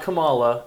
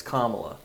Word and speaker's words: Kamala: It's it's it's not it's not Camala. It's Kamala.